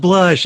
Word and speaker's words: Blush: blush F Fatima hard it's real hard not to say Bush isn't it I try to say it like her because it's just blush it's blush I don't care if she's get an accent it's blush blush right yeah she